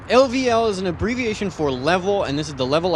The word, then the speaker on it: LVL: little game expo called lvl they pronounce it level ldl level up in